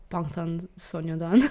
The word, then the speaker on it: 방탄소년단: 방탄소년단. Oh, I cannot pronounce that properly.